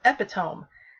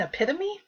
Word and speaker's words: epitome: he used the word he he said um epitome and i said what and and he he was using the word epitome and i said you mean epitome and he's like that's how it's pronounced so